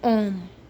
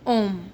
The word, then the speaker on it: homme: Un homme, a man. H is silent. Remember, mostly in French language, H is mute. That's why un homme.